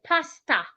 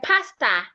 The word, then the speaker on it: pastor: So an average person will say pasta with your mouth opened at the end of the word. Pasta. My pastor didn't come to church today.